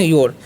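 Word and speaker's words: your: योर पढ़ते हैं ना लेकिन जब भी आपको प्रोनंसिएशन यानी कि उच्चारण करना होगा किसी से बात करते हैं तो र को मतलब बहुत कम बोलिएगा या बोलिएगा ही नहीं जैसे यो क्या पढ़ना है यो ठीक है तो इस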